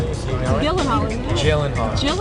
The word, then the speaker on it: Gyllenhaal: Mr gyllenhal and yes that is how you pronounce his name you want me to say it for you so you know it jillen Hall Jen jillen Hall everyone it's jillen Hall before I get to